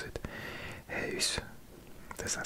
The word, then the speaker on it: huis: Huis. Does that sound better? I think I used to pronounce it house. Huis.